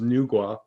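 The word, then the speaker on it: Nüwa: japan an earth goddess i believe the pronunciation is nugua but you can see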